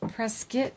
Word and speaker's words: Prescott: Pronounced Prescott Valley.